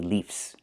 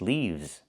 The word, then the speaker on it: leaves: One leaf with the F sound with no voice. One leaf and two leaves. I cannot say leaves. The word is leaves.